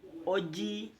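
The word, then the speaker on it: oggi: Untuk versi yang kedua oke oji parleremo di tulisnya O GG I tapi bacanya OJ.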